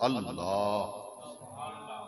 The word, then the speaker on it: اللہ: رب کا، ہمارے پروردگار اللہ۔ بعض لوگ اللہ کہتے ہیں، اللہ تلفظ غلط ہے، یہ آخر کے اندر جو ہا ہے نا، اللہ ایک ہی آواز آخر میں آنی چاہیے۔ تو رب کریم کا